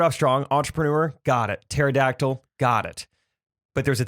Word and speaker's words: pterodactyl: chose to go with pterodactyl which has a silent p at the beginning and you're like okay